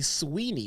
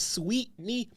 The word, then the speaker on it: Sweetney: I read that and I want to say Sweeney. I want to say Sweeney, but I see that T in there. It's Sweetney.